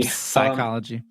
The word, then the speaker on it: psychology: or greek like that's greek silent p at the front those are always greek latin doesn't have a silent p psychology yeah um so yeah